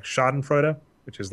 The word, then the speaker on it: Schadenfreude: a little bit of I think the pronunciation it's a German word is like schadenfreude ax which is like